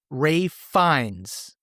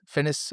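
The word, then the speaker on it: Ralph Fiennes: I've been saying Ray Ray Fenis. Fennis. I don't know. I just trying to pronounce things the way I'm reading them, but it's Ray Fines.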